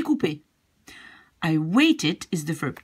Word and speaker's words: coupé: And, of course, it will become j'ai coupé because the ER becomes E accent, pronounced in the same way, j'ai coupé.